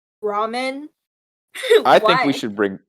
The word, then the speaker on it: ramen: i mean by like this is what i mean by weird american pronunciation ramen ramen i think we should